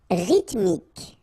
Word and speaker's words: rythmique: Rythmique. Remember, Y pronounced like I and then H doesn't exist.